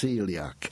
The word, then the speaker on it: Coeliac: You spell celiac C-O-E, like Seb Coe, C-O-E. L-I-A-C. So it looks like Coeliac, but it's pronounced celiac.